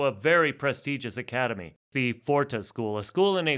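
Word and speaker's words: Pforta: very prestigious academy, the Forta School, a school in a former Cistercian monastery outside of Naumburg. And if you do look it up, it's spelled P-F-O-R-T-A, not just F-O-R-T-A.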